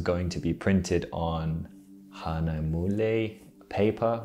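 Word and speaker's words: Hahnemühle: to be printed on hanamule paper which is like a german word i was just referring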